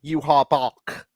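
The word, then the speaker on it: Yhwach: So, as the German in the room, that's how you're officially pronouncing it. Yuha Bach. This is how me and my friends are pronouncing it.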